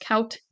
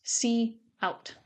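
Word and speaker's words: cout: called C out so notice it's not pronounced count it's pronounced C out C out is used to display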